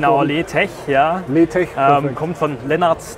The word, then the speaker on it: LeTech: Firma Letech, ist das richtig ausgesprochen? Genau, Letech, ja.